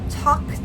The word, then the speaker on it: talked: hear the ed, I talked to him. What sound do we hear? talked. It's a K T.